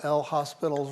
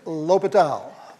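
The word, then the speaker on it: L'Hôpital: do you do use that famous rule we all mispronounce when we see it written right we'll use a little L hospitals rule okay it's l'hopital l'hopital's rule oh you have to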